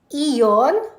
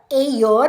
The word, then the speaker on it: Aeon: dito ang pangalan ng mall na ito ay Eon or aon Marami kasing basa maraming bigkas ewan ko sa basa ako ang basa